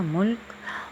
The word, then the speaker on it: ملک: ہے آپ کے پاس، میم پہ پیش اور لام پہ جزم اور کاف اپنا تلفظ واضح کر رہا ہے، ملک۔ اور ملت پہ ہم